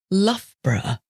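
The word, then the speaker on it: Loughborough: the difficult one what about the town of lfra that's l o u g h b o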